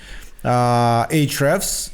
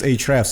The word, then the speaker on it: Ahrefs: Because again, Ahrefs is in a way being criticized for its hard to pronounce, hard to spell brand name.